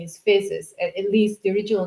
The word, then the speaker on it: Physis: The the name is Fisus. It can be pronounced both ways.